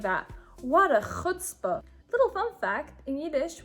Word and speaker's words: chutzpah: The next word is chutzpah, which is pronounced chutzpah in my Yiddish dialect. Or you might hear it also being said as chutzpah for English speakers who can't say the ch sound.